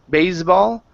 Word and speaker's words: baseball: here instead of B baseball okay the the S sound is not voiced it's an unvoiced S Bas baseball baseball okay